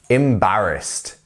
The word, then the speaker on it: embarrassed: Okay, so now let's have a look at some pronunciation for these. Let's look at first, embarrassed. embarrassed.